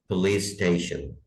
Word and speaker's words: police station: Police station, जो पुलिस का आखिर में सीन की साउंड है और स्टेशन के शुरू में सीन की साउंड है, ये आपस में इसको मिला देंगे हम, पुलिस स्टेशन। ऐसे करने की जरूरत नहीं है, पुलिस स्टेशन, पुलिस स्टेशन।